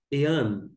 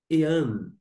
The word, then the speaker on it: Ἐὰν: tem a sintuação porque aqui está indicando a sílaba tônica tá bom a primeira palavra é esta que eu destaco ean ean ainda que se pode ser traduzido de uma